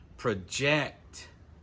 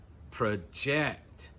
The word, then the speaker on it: project: Notice the vowel sound in the first syllable is contract. Project. Project.